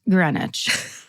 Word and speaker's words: Greenwich: And then in parentheses it says, "pronounced Greenwich."